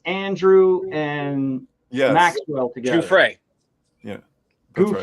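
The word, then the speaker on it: Giuffre: Gouffre.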